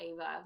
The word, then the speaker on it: Eva: If you go to the top, hit shop, and then go to, I think it's under more, and then Ava Love. It's spelled EVA. Ava Love.